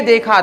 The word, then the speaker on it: the: भाई क्या होता है तो यहां पर द ना पढ़ के क्या पढ़ते हैं इसको दी पढ़ते हैं क्या पढ़ते हैं इसको